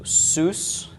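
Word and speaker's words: סוס: and another summit at the end okay so Seuss is the pronunciation of this Seuss is a horse and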